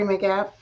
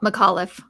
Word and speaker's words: McAuliffe: his name on terry mcgaff mcguffley caught mcauliffe mcauliffe i always say it wrong i had someone wrote